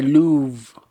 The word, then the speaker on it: Louvre: the spelling is different. I think it's like Louvre. Oh, it's the R. Oh, I hate silent language, silent letters sometimes. Why do you have to Yeah.